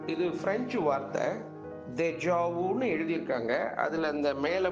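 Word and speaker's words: déjà vu: ஒரு கைட்லைன் அப்படி சொல்லலாம் இப்ப இதனுடைய உச்சரிப்பு தேஜாவு அப்படி படிக்கணும் இப்ப தேஜாவுனா என்ன அப்படின்னா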